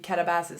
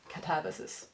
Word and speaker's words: katabasis: read in preparation for katabasis am I saying it correctly I saw someone online say that it's katabasis not katabasis I don't know for's